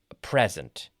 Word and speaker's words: present: have two different meanings depending on how we pronounce them. A few examples of these include, for example, present, un regalo, present.